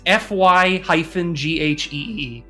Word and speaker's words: Feige: Wikipedia seems to say Figgy something Figgy? With a hard the stress syllable it's FY-GHEE. Wow.